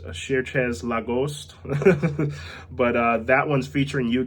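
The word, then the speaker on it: Cherchez LaGhost: I think it's pronounced Cherchez La Ghost.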